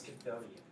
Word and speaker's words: Chthonian: It's Chthonian. Yeah. That was pretty good. Did I pronounce it right?